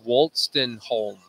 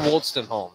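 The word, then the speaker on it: Wolstenholme: into the seventh frame aj waltzed walton holm aj woolston home that's how you pronounce that gentleman's last name one of tom hankey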